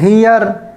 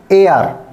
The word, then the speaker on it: heir: Okay, HEIR ये लिखा हुआ है वर्ड, इसको आप वैसे बोलेंगे तो हियर, तो गलत हो गया। ठीक, तो इसको अब हम राइट प्रोनाउंस करेंगे तो होगा AR, AR।